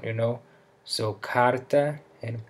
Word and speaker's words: carta: But if the R comes in the middle of a word, on the accented syllable, it sounds like an even stronger H. In the words porta, porta, or carta, which means door and letter that follow, you can use your